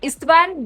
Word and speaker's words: Istvan: It's like Istvan, but it's a Hungarian name, so it's Istvan.